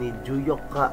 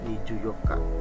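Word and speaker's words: 二十四日: sang niici tanggal 24 niju Yoka nah empatnya itu menggunakan tanggal 4 yang spesial di atas Terus dikasih 20 miju 24nya tanggal ya tanggal 4 Yoka makanya miju Yoka spesial tanggal 25 tanggal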